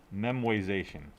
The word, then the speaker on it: memoization: show you though is memoization that is not memorization it is spelled correctly here trust me yes it is a made up word all words are made up right uh so it it's not memorization but it's memoization right uh so remember